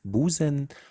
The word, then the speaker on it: Busen: The first one is the regular S, it's pronounced Busen.